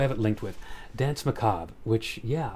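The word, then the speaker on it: Macabre: dance Macob, which yeah, apparently that's how you pronounced uh what my high school self probably would have pronounced as Maka or Macabber. Marabur, it's yeah, Macob.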